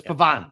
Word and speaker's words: Pavon: It's Pavon. Pavon. I don't give a fuck. It's Pavon. Pavon. So he gave out the best Frenchman. All right. French insider, Boston Capper. Yeah, French insider. Yes, that's me. Pavon 3-1 for fucking best Frenchman.